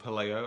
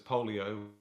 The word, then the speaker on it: Paleo: I got to meet up with uh Paleo Sport uh in um Eastern Europe, which as I discovered is called Paleo. I always pronounce it as Polio, which you can imagine and it's probably not the best product.